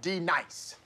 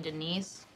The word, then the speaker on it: Denise: fill my wrath now d nice do you mean denise you say your name right right now denise say it right denise correctly denise right denise right de nice man there we